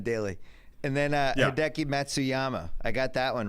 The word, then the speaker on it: Matsuyama: look like John Dy and then uh hii Matsuyama I got that one right you did you